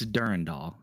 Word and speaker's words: Durandal: Oh, it's Durand Doll. I I've actually watched the old um like there was this really old video. You'd probably have to dig kind of deep for it, but um one of the old Bungie devs talking about the release of Marathon 2 Durand Doll and that's how he says it.